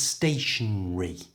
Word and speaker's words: stationary: to say it correctly don't pronounce the second letter A simply go from the n Sound straight to the re at the end so it's stationary and the other word